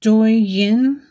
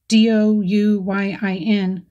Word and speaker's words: Douyin: Locally, the app is named Douyin, Douyin pronunciation.